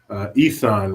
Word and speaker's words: Isan: Isan rhymes with Nissan.